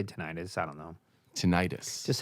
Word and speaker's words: tinnitus: This girl was like, "Oh yeah," because I was worried I was getting tinnitus. You're a professional. How do you say this? I'd say tinnitus.